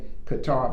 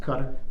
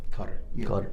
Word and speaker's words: Qatar: tour in in qatar we say qatar but it's actually pronounced cutter cutter oh i didn't know